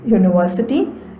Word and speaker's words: university: Words like European, university, uniform, unit, utensil, although begin with a vowel, the initial vowel is pronounced like the word you, and hence the article a is used before them.